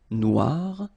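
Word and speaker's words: noire: it's quite funny because you will have to add this at the end of Noir for the feminine form but then you don't pronounce it okay so phonetically it is exactly the same Noir no Okay g don't pronounce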